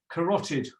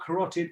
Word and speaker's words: carotid: try to remember what carotid is or how to say it take a look at that hopefully that helps carr rot something smelly and horrible and then id at the end i couldn't go to